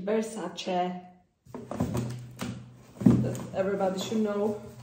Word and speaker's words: Versace: Not Versace, Versace.